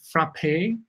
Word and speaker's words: Frappe: Is it, our people are not very sure, is it frappe or frappe? Or how do you say your own name and your company name correctly? Yeah, so it's Rushab Mehta, and then the name of the company is Frappe.